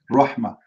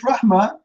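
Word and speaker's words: رحمة: and the wrong way when we say this is the correct one RMA did you hear me saying the letter T anyone heard the letter T anyone heard t no T right there's no T so there's no way if you pronounce it rahma you write it Rahat because you are adding a letter by pronunciation so it must be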